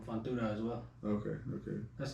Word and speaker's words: Fortuna: Well, I mean, you got to watch what's his name, Fontura as well. Okay. That's how you say his name, right? Fortuna.